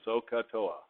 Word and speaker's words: SOHCAHTOA: and trigonometry has learned sohcahtoa and please don't say it wrong it's so Oh long old ha like ah Toa Oh the oh-ah very specific border so use your phonics